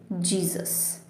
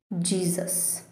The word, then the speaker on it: Jesus: So we say it in English as Jesus. Jesus.